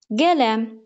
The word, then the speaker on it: qələm: Qələm, hecanı birinci, yəni vurğunu birinci hecaya qoyaq. Qələm demirəm, qələm deyirəm. Düzdür. İkinci hecanı daha kuvvetli telaffuz etdiyim için vurğu ikinci hecaya düşmüş olar.